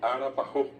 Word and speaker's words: arapajó: La A de A, ara, pa, jo. Arapajo.